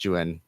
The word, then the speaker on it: Juexin: Like phonetically, it's like Juéxīn, but pronounced Juén.